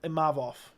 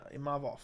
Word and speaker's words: Imavov: Which I say Imavov. Yeah, Imavov. I don't. And that's correct.